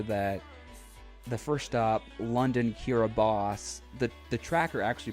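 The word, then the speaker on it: Kiribati: make it clear that the first stop London Kira boss the the tracker actually pronounced it London Kira a body even though it's actually kiraboss but east said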